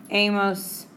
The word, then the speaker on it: hemos: Asa, hemos, han. ¿Ok? No se pronuncia la H, es invisible. Y 2 opciones, ER verbs, ado, y IR verbs, ido.